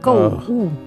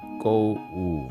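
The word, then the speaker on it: 购物: Go is the fourth tone. Wu is also the fourth tone. Go. Ooh. Go woo.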